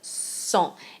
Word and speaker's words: sont: And even though we don't pronounce the S in il, we do hear the S in sont because it's the beginning of the word. So you have ils sont. It's a really soft S sound, okay?